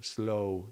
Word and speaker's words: slow: Yeah, L makes it slower and goes into the V, slow, slow. Well, actually, there is no, we don't pronounce the W, slow. It just becomes a vowel.